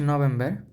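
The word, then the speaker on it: Novembre: ত অত্যব্রে তারপর হচ্ছে নভেম্বর নভেম্বরটা হচ্ছে নভেম্বরে নভেম্বরে আর টা হচ্ছে র উচ্চারণ হবে এর নভেম্বরে সর্বশেষ যেটা সেটা হচ্ছে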